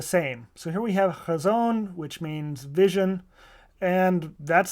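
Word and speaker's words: חזון: This, for example, is not a straight H. It's kind of a guttural H like loch.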